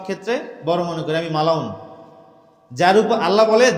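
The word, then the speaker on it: ملعون: উপর লান্নত থাকে তাকেই মালাউন বলে বাংলায় মালাউন বলি না বাংলা না ওটা শব্দটা ওটা আরবি শব্দ ওটাকে মালউন সঠিক উচ্চারণ কি মালুন যেটাকে আমরা মালাউন বলি আল্লাহর ভাষা পরিভাষা এমনই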